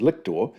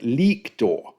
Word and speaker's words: lictor: the guy's name is lictor, based on the discussion saying, "Well, in fact, the Latin has a long vowel sound at the start.